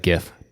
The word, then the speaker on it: GIF: and that's right listeners I said gif deal with it yep you said it right yeah you're correct I don't know the yeah I thought that would be controversial alright Wil Wheaton says Jeff right yeah he's wrong yeah I'm gonna break